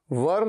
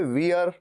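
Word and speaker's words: were: और मैं देखता हूं कई स्टूडेंट्स इसे वियर, वेयर ऐसे भी बोलते हैं, नहीं, इसकी प्रोनाउंसिएशन होती है वर, केवल वर, व र वर।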